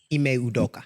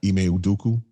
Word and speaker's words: Ime Udoka: situation with I don't want to say his name wrong. Ime Udoka. Ime Udoka.